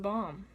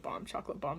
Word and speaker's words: bombe: hoping it's delicious, chocolate bombe. When I ordered it, I was like, chocolate bombe, and he corrected me, it's a chocolate bombe, so now you know how to pronounce it.